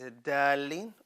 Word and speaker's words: الضالين: Okay, here a common mistake people make when they read dalin is that they will pronounce dad as empty. It's dalin, or they pronounce dad and lam both as full mouth. So dalin, no. Dalin. You notice that? So full mouth, and then we go to empty mouth.